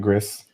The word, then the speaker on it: Gris: I would say Gris just because of my Spanish background. And that would be correct.